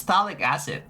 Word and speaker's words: phthalic acid: I think it's phthalic acid, right? You you don't you don't like pronounce the first few letters like the the ph doesn't exist.